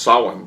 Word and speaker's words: Samhain: Pronounced she, like Samhain is really pronounced Samhain for you Halloween fans.